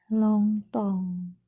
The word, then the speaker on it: Longdong: Tempatnya ada di Longtong. Tulisannya Longdong ya Mas, bacanya Longtong.